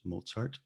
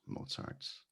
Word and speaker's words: Mozart: about how to pronounce mozart's last name the z in mozart's last name is the german z and you'll you might